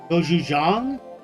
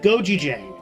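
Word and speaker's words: 고추장: Goju Jang. I had no idea. I've been pronouncing it wrong this entire time. You know what? Blame GooGafood because he pronounced it Goji Jang.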